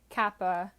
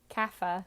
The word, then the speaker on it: kapha: that range of endomorph kappa kapha i keep saying it wrong um then you are